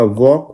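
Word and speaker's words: walk: फिर अगला है आपका वॉक। वॉक में एल होता है। फिर फोक फोक में भी एल साइलेंट होता है।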